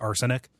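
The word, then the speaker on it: Arsonyk: sci-fi thing is just Arsenic. Arson spelled like the crime, and then YK at the end. Like no good Nick or whatever.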